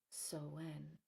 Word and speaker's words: Samhain: But I'd like to point out that it is still so When, which is spelled S A M H A I N or it sounds like Sam Hayne. So when.